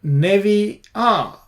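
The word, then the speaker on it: נביאה: And that's because Navi here, I think, because the stress is on the last syllable here, that's why this reduces from kamatz to shwa.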